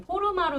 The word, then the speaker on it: Forma: 이게 그냥 영어 발음은 포르마로 읽으시는 게 편한데 글로벌리 포마라고 읽으시면 돼요. 포마. 이제 한국 분들끼리는 포르마가 편한데 외국 분들이 못 알아들으시더라고요. 포르마라 그러면. 그래서 포마라고 발음을 저희는 좀 하고 있습니다.